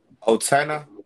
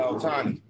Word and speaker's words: Ohtani: Shoot, Otana. If I'm saying it right. Oh, you talking about Shohei Ohtani? Yeah, Ohtani. Ohtani, the Dodgers.